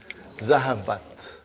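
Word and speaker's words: ذَهَبَتْ: How do you pronounce it? Zahabat.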